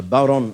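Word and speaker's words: bodhrán: It's called a bowron or a bowron or a bowron. It's spelt B-O-D-R-H-A-N. The D is silent, like the P in Bath.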